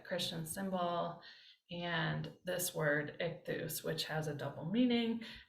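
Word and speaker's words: ἰχθύς: But here we have some Greek, and this is iota, chi, theta, upsilon. And then when we looked at manuscripts last time, we learned that what looks like a C is actually a final sigma. So ichthus, ichthus, ichthus.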